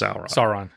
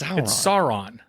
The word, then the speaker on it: Sauron: stop saying it Sauron it's not a sauerkraut it's Sauron it's not it's not how you pronounce I don't care they didn't pronounce it in Lord of the Rings that way either Sauron go back so yeah